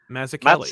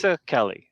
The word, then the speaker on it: Mazzucchelli: told me it's like pizza and zucchini. Okay, so it's Mazzucchelli. Mazzucchelli, yeah.